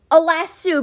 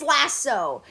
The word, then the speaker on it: lasso: how you say i'm going i'm going to pronounce it wrong and say alas sue because it says last and then sue so lasso last suit that's not a word ma'am it's lasso it is a lasso have you been to